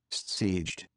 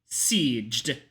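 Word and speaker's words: Szeged: Sieged. Sieged. Sieged. Sieged. Okay, cool. I know how to pronounce that now.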